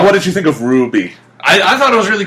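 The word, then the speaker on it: RWBY: see the preview of Ruby, the new series from Monty Ohm? I think the proper way to pronounce it should be Ruby, because it's a W. Yeah.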